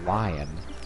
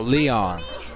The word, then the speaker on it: Lion: what kind of name for a dog is lion oh leon it's just pronounced a lot okay about to say i